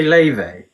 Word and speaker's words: Laufey: You say Leve? Yeah, but it's spelled Laufey.